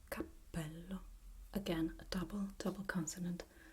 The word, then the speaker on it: capello: So we have P, like Capello. Again, a double consonant. Capello. Double P, double L. This one has the occlusive consonant, and this one has the consonant that elongates the sound. Capello.